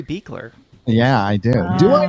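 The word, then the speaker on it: Buechler: me i'd feel bad look at my last name and pronounce it right every video so it's beakler yeah i do do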